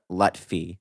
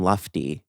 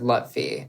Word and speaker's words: Lutfi: So in this documentary, it's got Sam Lutfi, which it's I have been pronouncing and spelling his name wrong for the last however many years of my life. I thought it was Sam Lufty.